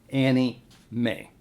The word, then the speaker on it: anime: It is also known as anime videos, parentheses, pronounced, quote, Annie May.